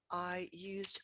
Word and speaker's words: used: in the past, I used my new computer yesterday. I used. And there we are pronouncing the D as a D, in fact.